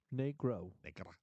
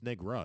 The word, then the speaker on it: Negra: yes negro excuse me how do you pronounce it negro it sounds like let's be phonetically wrong it's Negra isn't it isn't it there an A or is there an O at the end n e oh is it